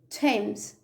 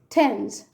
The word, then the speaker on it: Thames: The letter A is pronounced as A. A as in any, many, said, says, and the river Thames. Any, many, said, says, Thames.